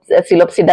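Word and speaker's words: Psilopsida: सिलोप्सिडा बेटा यहां पर आपको पता है सिलोप्सिडा का पी साइलेंट होता है।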